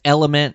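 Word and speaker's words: LMNT: can check them out it's element it's spelled LM NT we have a landing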